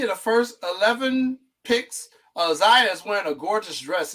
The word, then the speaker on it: Zia: Is it pronounced Zaya or Zia? Zaya Cook. Zaya Cook.